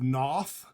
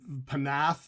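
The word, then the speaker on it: Pnath: bang called veil of noth uh everyone pronounces their name panth veil of panth but they're actually veil of noth uh I believe their name is pronounced Noth uh their their new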